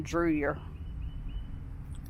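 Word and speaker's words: Drouillard: to 1806 and it tells you how to pronounce it so i got it right this time drewyer okay we're outside of brookport illinois which has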